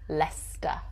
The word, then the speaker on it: Leicester: where i'm from birmingham birmingham four la star leicester leicester number five like the thoughts worcester worcester